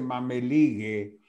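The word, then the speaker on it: mămăligă: Esa Mameligue, en rumano se dice Mameligue, la comida con nuestra polenta.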